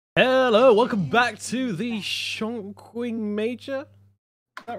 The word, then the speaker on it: Chongqing: It's Chongqing. I thought you pronounced it differently this time.